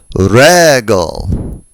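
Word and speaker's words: רגל: They are penultimately accented, regel.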